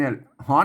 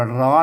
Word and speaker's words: ร้อน: อ่าน นะ ครับ เออ คน ทั่ว ไป มา อ่าน ว่า ร้อน มัน ไม่ ได้ มัน ต้อง อ่าน ว่า ฮ้อน นะ ครับ เห็น มย